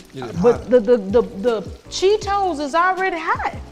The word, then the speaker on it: Cheetos: But the Cheetos is already hot.